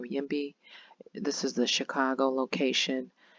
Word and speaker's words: YIMBY: I believe this is pronounced Yimby or Yimby.